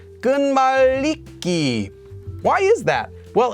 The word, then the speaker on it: 끝말잇기: connecting so connecting words this is actually pronounced according to sound change rules as gun maliki why is that well